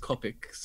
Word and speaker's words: Copic: want Of to get in on the Copics, even though they're pronounced Copics apparently, but I want to get on the Copic bandwagon and the Wacom bandwagon, even though I prefer using the iPad.